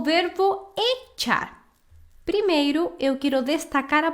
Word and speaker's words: echar: por que é importante entender o verbo echar? Primeiro, eu quero destacar a pronúncia desse verbo, tá? A gente fala echar, sim? E não echar. Então, CH em espanhol é como a palavra tchau do português, ok?